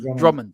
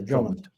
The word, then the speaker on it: Drummond: Is that how you pronounce his surname, Philip? I don't want to get it wrong. Yeah, Drummond. Yeah. Richard Hammond. No, Drummond.